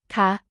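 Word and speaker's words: คะ: has a falling tone ca ca is used by women in questions and has a rising tone crap crap is used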